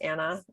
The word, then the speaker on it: Anne: Like Anna, it's Anne with an E, but it's pronounced Anna.